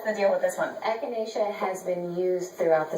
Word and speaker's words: echinacea: How do you pronounce this? Yeah, I don't know either. This is echinacea tea.